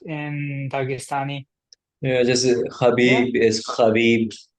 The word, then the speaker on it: Khabib: Justib is Khabib. They pronounce it with a K at the beginning. Khabib because they don't have H in Russian.